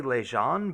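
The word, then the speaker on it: Leijon: How are we pronouncing Meulin's last name? I usually say Lejean, but I mean, we can pronounce it however.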